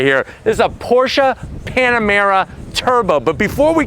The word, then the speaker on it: Porsche: This is a Porsche Panamera Turbo. But before we get into this beefed up, twin turbocharged V8 all-wheel drive German luxury performance sedan, let's talk about what's going on here. Porsche.